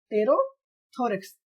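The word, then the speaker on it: pterothorax: यहाँ पर P silent रहता है, इसको याद रखना। इसको हम क्या पढ़ेंगे, टेरोथोरेक्स।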